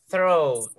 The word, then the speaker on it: throat: Next, sore throat, sore throat. La segunda palabra es un poco complicada de pronunciar, pero es como una T y una F.